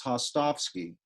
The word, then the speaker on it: Hostovsky: especially if your name is Hostovsky, which people are always mispronouncing and misspelling, even though it's properly pronounced exactly the way it's written.